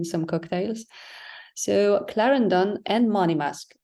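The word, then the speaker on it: Monymusk: cocktails so Clarendon and money mask so I've also heard the pronunciation money mosque um but I'll I'll stick to money mask now so the The Distillery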